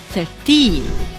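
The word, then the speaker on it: thirteen: However, in the word 13, the stress is on the last syllable, in, 13.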